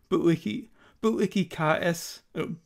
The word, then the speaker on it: Bu-ikikaesu: I'm changing the pronunciation to what it is on the album. I realized it was different from what I was saying last time, because I forgot that the U at the end of a lot of words in Japanese is silent.